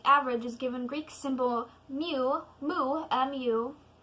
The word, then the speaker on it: mu: is given Greek symbol mu mu mu which is pronounced very similar to me the definition of the